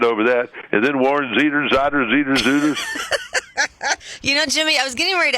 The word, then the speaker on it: Zeiders: Warren Zeiders. Zeider. Like glider.